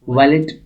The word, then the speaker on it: valet: Guys जो यहाँ पर वर्ड है इसकी प्रोनाउंसिएशन दो है, एक है वैलेट, दूसरा है वैले. एज जो आपको अच्छा लगता है आप वो बता सकते हैं, वैले या वैलेट.